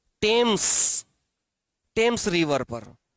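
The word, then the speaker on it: Thames: टेम्स वि is situated situated और located on द bank of टेम्स spelling थोड़ी अलग होगी। टी एच ए एम एस टेम्स जैसे थीम्स हो। टेम्स।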